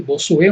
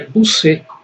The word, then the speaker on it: Bossuet: falou para mim que não é bossu como eu falo que na verdade ã no inglês no no francês verdadeiro n a pronúncia é buc é Jack B né mas eu achei